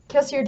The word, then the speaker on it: Kelsier: foreshadows and those three things added up to kelsier will die and as soon as that other execution started i was like this is where kelsey is going to there's a caveat i thought